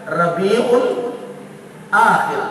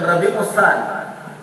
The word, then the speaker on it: Rabiul Akhir: kerana Dia anab kemudian berikutnya Rabiul akhir bukan rabiusani mentang-entang awal jangan S